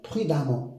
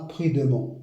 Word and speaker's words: prudemment: Mais même si on a le e, on prononce a comme ici récent, récemment hein, prudemment et non pas prudement. Prudemment.